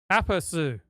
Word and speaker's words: aperçu: Just give me aperçu.